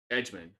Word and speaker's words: Edgmon: Edgman. That's Edgman. That's how you pronounce that, Edgman.